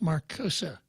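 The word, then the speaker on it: Marcuse: a gentleman named Herbert Marcus sometimes pronounced marcosa and the rest of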